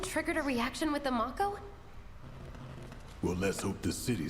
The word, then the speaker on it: Mako: a jump button yeah I never expected it to be pronounced Mako I always thought it was going to be Mako Live Wire they're everywhere